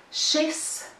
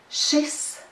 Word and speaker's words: šis: But today, this word has the short vowel in it, and it should sound like this, šis, šis, šis, šis. Please notice that difference.